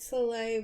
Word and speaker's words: Soleil: It's pronounced Soleil.